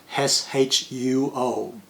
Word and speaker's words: Shuo: Of course, here in Australia, I'm not Shuo anymore. I'm Shuo. See, I even changed the pronunciation because my given name spells S-H-U-O. So Shuo makes more sense in English.